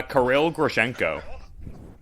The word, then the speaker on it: Kirill Grishenko: that i know of um how do you pronounce his name uh karil grishenko yeah and like i i feel like being